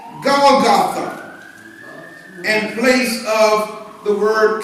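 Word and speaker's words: Golgotha: Well, in another passage, it says Goltha.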